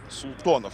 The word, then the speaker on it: Султанов: Султанов он в игре Султанов вот так правильно произносить его фамилию исправляюсь 19-летний игрок из